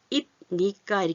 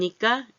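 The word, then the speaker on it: 입니까: 그 뒤 에 오는 "n" 소리 는 비음 입니다 . 코맹맹 이 소리 . 그래서 비음 이 연속 해서 나올 때 발음 하기 가 훨씬 더 편합니다 . " 이브니카 " 보다 는 " 임니카 " 와 같은 발음 이 더 자연 스럽습니다 .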